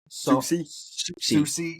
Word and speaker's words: Soucy: Soucy.